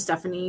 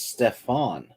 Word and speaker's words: Stefan: Okay, there's all kinds of Stephanie Creedys here, but yeah. So it's if it's a male, then it's a male. But my it's Stefan. It's not Stephanie.